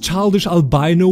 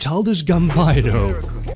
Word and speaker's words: Childish Gambino: Remember that childish albino we kidnapped? It's pronounced childish gambino.